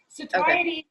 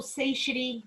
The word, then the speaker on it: satiety: like the Royal Canan saty also saity they're both the correct pronunciation it doesn't matter kind of depends what who taught you um sa just means